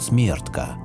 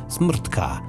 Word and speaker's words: Smrtka: А вот на чешском языке эту богиню нередко называют Смертка. Правда, без гласных букв, что-то вроде смртка, от слова смерть.